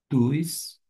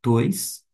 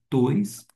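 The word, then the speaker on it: τοῖς: Tuis, digo tois, eu falei tuis u, mas é tois, porque nós temos um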